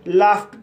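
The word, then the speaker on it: laughed: लाफ्ट लाफ्ट शब्द में जी एच का उच्चारण फ हुआ है और उसके बाद ई डी जोड़ा गया है। इसलिए डी का उच्चारण ट होगा। इसलिए इसे लाफ्ट पढ़ा जाता है।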